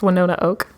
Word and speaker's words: Winona Oak: um when one ona oak is how you pronounce her name yes Winona oak she has a new EP out that came